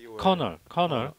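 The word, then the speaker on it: colonel: 커널. 발음이. 커널.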